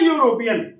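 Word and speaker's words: European: Mister Hilton is ए यूरोपियन, हालांकि ई से start है, ए ई आई ओ यू से स्टार्ट है, लेकिन इसका साउंड, इसका प्रोनाउंसिएशन नहीं आ रहा है, व्यंजन से आ रहा है, हिंदी के साउंड स्वर से नहीं मिल रहा है।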